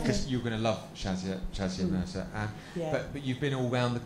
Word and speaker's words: Shazia Mirza: Now I didn't know how to pronounce his name, but you're Shazia Mirza.